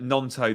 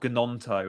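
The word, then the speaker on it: Gnonto: the pronunciation uh remember nonto the G silent right so it's not gononto as I've heard people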